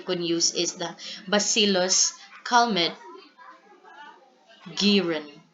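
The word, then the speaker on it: Calmette-Guérin: use is the bacillus cmet Garen So that's how you pronounce this because these two people are French physicist or chemists which are responsible for developing this particular um vaccine next early detection and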